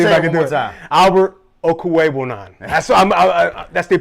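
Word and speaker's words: Albert Okwuegbunam: let me see if i can do it albert okuwei that's that's the pronunciation alberto uh they did draft a tight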